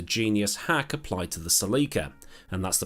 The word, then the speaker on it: Celica: hack applied to the seleka and that's the pronunciation i'm sticking with because that's how the ladies said it on the adverts at the time and it wasn't the